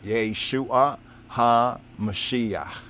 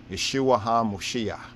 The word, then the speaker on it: Yeshua HaMashiach: Even the name Jesus Christ, as we are taught, right, to say it and pronounce it today, even the term Jesus Christ, right, is a mistranslation. Yeshua, Yeshua HaMashiach.